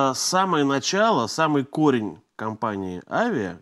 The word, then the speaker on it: Avia: начало самый корень компании Avia вернее как правильно ударение на первый слог корни лежат в Индии